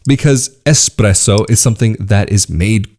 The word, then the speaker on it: espresso: there for you so expresso express i'll give it to you if you pronounce it expresso yeah okay if you're coming to italy don't pronounce it like that but i understand why